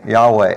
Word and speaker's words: Yahweh: that is his name in Hebrew it is spelled y-h-w-h now that's weird for us because there's no vowels in that and so when if you look at the word y-h-w-h to try to pronounce God's name well kind of the best you can do without having any vowels to work with it's just kind of say like yeah wait Yahweh you know so that